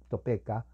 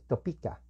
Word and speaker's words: Topeka: inglés whats en topita se lee en español Topeka pero la he en inglés y entonces tópica no tópica cansa hay otro personaje que se